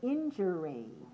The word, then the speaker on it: injury: dash one do you know the noun form injury injury how do you spell injury how many syllables three where's the stress one right how